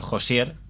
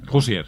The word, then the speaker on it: Hoosier: Por empezar, por Josier, Bueno, Hoosier. Hoosier, sí, ya digo que mis pronunciaciones...